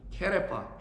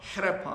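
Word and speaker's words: חרפה: 그래서 이 부끄러움이라는 단어가 히브리어로 굳이 읽는다라면 케레파라고 합니다. 케레파, 헤레파 뭐 이렇게 발음할 수 있는데, 이거는 하라프에서 나온 단어인데, 이게 부끄럽다 뭐 이런 뜻이에요.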